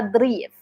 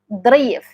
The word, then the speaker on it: darif: will tell you inta darif darif. Okay? So, this is the over here it sounds like the number D but we actually emphasizing it. We say like da darif darif. Okay? Not darif.